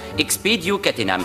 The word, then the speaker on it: expedio catenam: dans le cas présent la formule magique se prononce expedio catenam veillez à vous en souvenir tout le monde a compris Bloom est-ce que vous voulez essayer oui expéio katenam maintenant regardez ce qui se passe si on prononce mal l'incantation expéo gadam vous voyez mon point